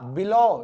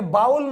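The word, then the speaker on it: bowl: बोला जाता है बॉल इसको क्या बोला जाएगा इसको बोला जाएगा बोल यह बाउल नहीं होता कई इसको बाउल बोलते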